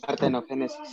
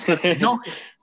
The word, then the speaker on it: partenogénesis: Porque algunos dicen partenógenes. O algo así. No, hay que pronunciarlo bien. Partenogénesis. Ajá. Es Partenogénesis. partenogénesis.